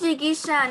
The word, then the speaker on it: Jigisha: Jigyasa, you have a very, very sweet voice. Very nicely done. All of you, very nicely done. Hari bol. It is Jigisha, not Jigyasa.